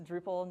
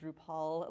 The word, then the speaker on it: Drupal: It's Drupal, not Drupal, like RuPaul, the drag race.